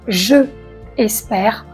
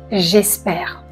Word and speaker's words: j'espère: On ne dit pas je espère, on dit j'espère.